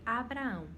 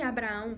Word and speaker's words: Abraão: sobre isso, só que o nome dele antes era Abrão, se pronunciava Abrão e depois Deus ele altera para Abraão, certo?